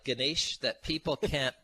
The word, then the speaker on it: Gnys: And if you can remember those guys in Niagara Falls, Guys, just turn that U upside down into an N, and you've got my last name. So when you've got a name like Gnys, you need a really easy phone number now.